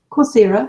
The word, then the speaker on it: Coursera: Coursera, yeah.